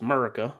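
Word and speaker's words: 'Murica: First of all, I think in that setting it's pronounced Murica, but yes.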